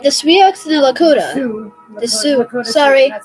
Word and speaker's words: Sioux: Sioux. The Sioux. Lakota Sorry. Sioux. That's our tribe. Lakota Sioux. That's a weird way of spelling it. Does X is silent? Yes. It's French, actually. It's a French word.